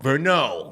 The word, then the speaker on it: Verneau: Verneau. Yeah, nah, so it's all good. Verneau.